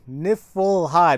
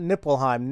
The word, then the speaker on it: Niflheim: want to say there it's niffle nifflheim not nipple hime nifelheim and Moo spell